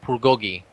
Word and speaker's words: bulgogi: If the word starts with it, it should sound more like a B. So they actually kind of say like bulgogi.